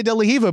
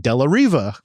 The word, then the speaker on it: De La Riva: I'm a hypocrite because I say De La Hiva, but nah, bro, it's an R. If I'm using like, the English that I learned in America, I should pronounce it De La Riva.